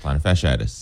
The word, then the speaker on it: plantar fasciitis: My dad actually went, and he was having plantar fasciitis. Is that how you say it? Yeah. That's plantar fasciitis.